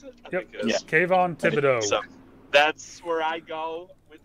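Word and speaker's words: Thibodeaux: Is that how you pronounce it? Yeah. Kayvon Thibodeau.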